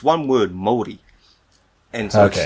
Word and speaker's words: Māori: I've noticed you say I feel like in English we say Maori, but you say Maori.